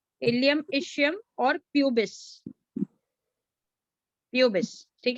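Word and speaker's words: pubis: और excuse me ma'am, हाँ जी, एक बार दोबारा से रिपीट कर दीजिए तीनों नेम, मतलब हाँ प्रोनाउंसिएशन। मैं बोलती हूँ। Ilium, ilium, ilium, ischium, ilium, ischium और प्यूबिस, प्यूबिस, ठीक है।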